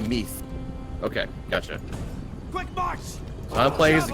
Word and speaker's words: Meath: the top of my shield wall mine is pronounced Meath okay catch it plays the kingdom of nice